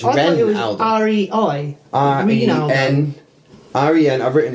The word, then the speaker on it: Renaldo: Yeah, but it's spelled with an E, so it's Renaldo, not Ranaldo. It's Renaldo.